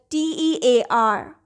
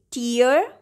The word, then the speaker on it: tear: the pronunciation will be tear, T-E-A-R. And if you want to say something that is rip off, then this word will be pronounced as tear. T and air, tear.